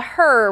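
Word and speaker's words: HRRR: And then the other one is going to be what we call the her model or a lot of people call it the her. It's HR RR. So, you know, kind of just phonetically looks like her.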